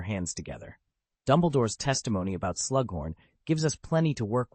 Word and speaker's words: Slughorn: "It's Slughorn, not Slug, Professor."